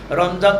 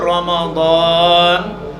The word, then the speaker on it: রমাদান: রমজান তো মাস, কোরআন শরীফের মধ্যে 12 মাসের মধ্যে একটা মাসের নাম আছে, সেটা হচ্ছে রমজান। রমজান না, অ্যাপ্রোপ্রিয়েট যথাযথ উচ্চারণটা হলো রমাদান।